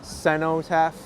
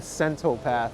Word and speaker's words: cenotaph: Oh, it's the cenotaph. I think I said centopath, but that's completely wrong.